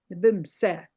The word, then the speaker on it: nibimose: Nibimose. Nibimse. Nibimse. Nibimse. I don't hear the mose at the end because I don't hear it.